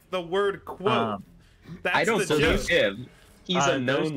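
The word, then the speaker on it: Kvothe: is k yeah oh kavo I pronoun I pronounce it K he says it's quot he says he describes it explicitly that it's pronounced like the word quot that's him he's a known liar that is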